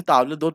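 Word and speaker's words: table d'hôte: Where as ताबलेदोत, इसे ताबलेदोत pronounce करते हैं, ये फिक्स्ड होता है।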